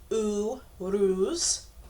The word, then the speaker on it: Uruz: in the major Arcana phonetically it's pronounced ooh ruse and is the U